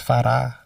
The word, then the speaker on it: Farah: It's flat, it's not something like a lot of people say Farah, it's Farah.